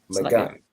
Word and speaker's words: Magan: Oh, Magan, right? So when the ga and the na are connected, the a drops off of the na. So the a drops off of the last letter.